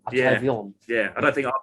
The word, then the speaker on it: Atravion: Well, we've had a conversation about this, and it got settled last night when Estelle May pronounced it in her French accent. Atravion.